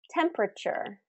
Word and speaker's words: temperature: Another example, temperature, temperature. We don't say temperature, temperature. We say temperature, temperature. And here I've bolded the stressed syllable. So both of these words are first syllable stress.